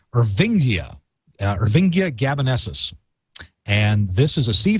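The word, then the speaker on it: Irvingia gabonensis: There's another product, another ingredient that is pronounced Ervingia gabanesis.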